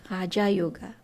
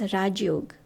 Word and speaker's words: Raja Yoga: Mais en fait, c'est ça le vrai, Raja Yoga. Mais en Inde, on prononce Raj Yoga.